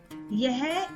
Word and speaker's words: ये: व्हनेवर one person और one thing is near यू यूज यह इन Hindi in everyday conversation native speakers often से ये instead of यह now let's move on